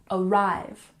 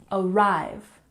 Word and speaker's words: arrive: pronunciation front front and arrive has emphasis on the second syllable arrive arrive and 24 check out